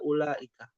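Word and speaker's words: أولئك: Ulaika ini kok dibacanya pendeknya u-nya? Ya. Di sini kan ada huruf waw ya. Kan harusnya waw ini apa? Matobi'i ya kalau Iya, bahasa panjang. pelajaran tahsin. Nah, panjang. Kenapa dia tidak dibaca panjang?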